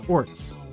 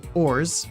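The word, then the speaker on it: orz: despair dejection or frustration there's no set way to pronounce it people may pronounce it as Orcs ORS which is what I said or ORS ORS ORS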